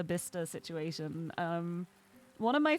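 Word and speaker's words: Bicester: Actually, doesn't matter that it's spelled the same way." Um, I also love the whole like Worcester Leester Bista situation.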